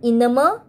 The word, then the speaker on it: enamel: ivy, privy, famous, clamor, and enamel rhymes with hammer.